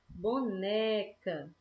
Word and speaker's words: boneca: assim olha aí só boneca boneca Olha a sílaba que puxou mais tá vendo boneca a gente fala boneca